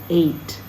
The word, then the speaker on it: ate: 26, ate, long A. We eat something today, but yesterday we ate it.